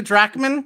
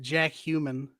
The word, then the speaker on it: Jackman: You want to see Hugh Jackman? I want to see Hugh Jackman. I want to see Wolverine with some. Or as my dad famously pronounces it, Jack Human.